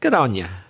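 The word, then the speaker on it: good on ya: to australia is geronia good on you but pronounced gerania which means cheers thanks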